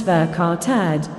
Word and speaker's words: verkaterd: Important note, verkortet, pronounced verkartad, is a Dutch expression which actually also does not exist in Dutch.